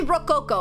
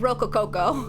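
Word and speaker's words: rococo: Yeah, it's only Rook Coco. I did Roco Coco. I did one too many cos.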